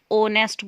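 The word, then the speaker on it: honest: is dash ऑनेस्ट lady इसमें H silent है इसे हम नेस्ट नहीं ऑनेस्ट बोलते हैं तो ये ओ से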